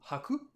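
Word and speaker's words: はく: On se souvient qu'on a le kanji du blanc qui se prononce hiro ou haku, le kanji de l'oiseau tori ou cho, le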